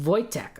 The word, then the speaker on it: Wojtek: But I have no, it's pronounced Wojtek.